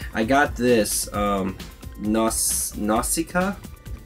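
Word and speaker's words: Nausicaä: got this um nos Nausicaa is how you pronounce it didn't find out till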